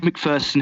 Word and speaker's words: McPherson: lead singer of the band in me dave mcpherson how are you sir i'm very well and thank you for pronouncing my name correctly that doesn't happen often